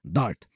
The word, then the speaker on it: D4RT: If you want to sound really cool, pronounce it as DART.